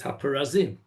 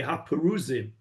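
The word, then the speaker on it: הפרזים: And that's why you have to know that it says Haparazim. Because when you're reading it, you will want to say Haparuzim.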